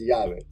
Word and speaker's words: Yave: Our key, Yave means key in Spanish. And the reason it's spelled Y-A-V-E is because we spelled it phonetically. So in Spanish, it's spelled with 2 L's, but if you don't speak Spanish, it's La Lave or some weird word, so it's Yave.